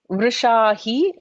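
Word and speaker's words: वृषाही: Vrishahi, note that vr is in like not the ra, ya, ra, but in the vowels. So the ru, it's pronounced a little differently.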